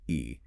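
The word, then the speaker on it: へ: E, direction marker pronounced E.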